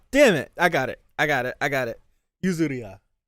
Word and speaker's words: Yuzuriha: Yuzuriha. Damn it. I got it. Yuzuriha.